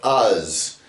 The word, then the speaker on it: Uz: And the name Uz is spelled Ayin Tsadi. And Ayin can take on the sound, and the Tsadi is not a Z, it's a Tsa, like in Sar.